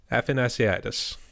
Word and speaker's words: Athanasiadis: today and hoping i pronounce it right affinaciadis how do you pronounce it yep you got it all right